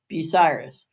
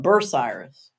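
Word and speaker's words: Bucyrus: not a waser like the town I live in is called it's spelled bu u y r u s busiris well the people here that come up from the south and move up here they call it B ciris it's not B Cirus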